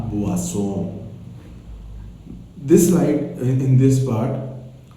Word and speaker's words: boisson: You remember very well, OI is always OA. OA. So, la boisson.